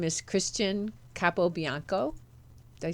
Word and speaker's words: Christian Capobianco: So, today, my guest is my friend, and her name is Christian Capobinaco.